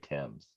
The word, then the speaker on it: Thames: spelled like things but I think they say Tim's yeah whatever I'm not